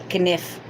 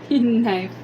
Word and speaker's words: knife: But it's just, I think silent letters are just evil. They are evil. Kniff. Knife.